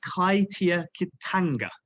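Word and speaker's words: kaitiakitanga: And more importantly as well, it embraced the Maori principle of guardianship, and it's pronounced Kaitia Kitanga in Maori, which means it's the notion of guardianship.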